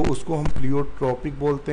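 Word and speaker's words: pleiotropic: एजोट्रॉपिक बोलते हैं या प्लियोट्रॉपिक बोलते हैं तो उसको हम प्लियोट्रॉपिक बोलते हैं. देखिए यहाँ अंतर दिया प्लियोट्रॉफिक और प्लियोट्रॉपिक. तो प्लियोट्रॉपिक बोलते हैं, प्लियोट्रॉफिक नहीं बोलते हैं.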